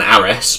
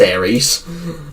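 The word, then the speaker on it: Ares: Why is why as I first pronounced it Tron Ars, but that's not how it's pronounced. It's pronounced Aries.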